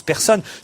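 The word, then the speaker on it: Pärson: Voilà, et elle s'appelle Persson, pas P-A-E-R-S-O-N, mais ça se prononce Persson.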